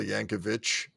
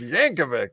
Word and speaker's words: Yankovic: My dad used to call him Weird Al Yankovic because it ends with a C and it's like the Serbian pronunciation or something. I was like, it's Yankovic.